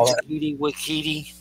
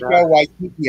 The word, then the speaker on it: Taika Waititi: Say his name, Takiti with Kahiti. Say it right. Taika Waititi, I think, is the way you say it.